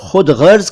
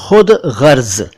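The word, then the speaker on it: ख़ुदग़र्ज़: Film का नाम है खुद गर्ज। देखिए, इसका उच्चारण ठीक से करिए, खुद गर्ज, खुद गर्ज नहीं। अगर आप इसको हिंदी में लिखें तो ख के नीचे भी डॉट आएगा, ग के नीचे भी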